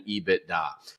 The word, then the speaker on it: EBITDA: In 21 years on Wall Street, I've never heard anybody call it anything else other than EBITDA. And so it's a 3-syllable word.